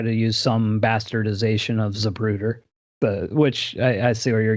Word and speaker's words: Zapruder: Well, speaking of classic 8 millimeter reality footage, um, you put out some films under the name of Zapruder Flicks. Did I Yes.